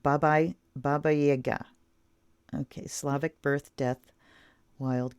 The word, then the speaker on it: Baba Yaga: And they say pronounced Baba Yaga.